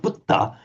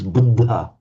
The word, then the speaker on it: Buddha: So you might hear it as buddha which the in native Indians speak say hang on that's just not wrong it's not budda it's buddha but okay that that